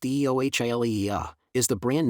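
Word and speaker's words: Eohilia: Eiohilia, pronounced Eio Hila, is the brand name for oral budesonide.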